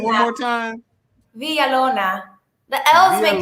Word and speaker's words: Villalona: Villalona. The L's make like Villalona. Villalona. Villalona.